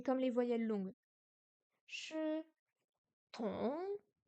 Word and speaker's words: 同: Le T est ce qu'on appelle une consonne aspirée. Il faut la prononcer en expirant de l'air avec une petite explosion, un peu comme en anglais. Dans ong, il ne faut pas prononcer le G qui reste dans la gorge.